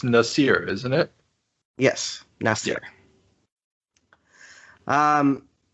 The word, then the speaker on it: Nasir: his name of course most people call him nazer but that is not actually how you would pronounce it no it's nasir isn't it yes necessary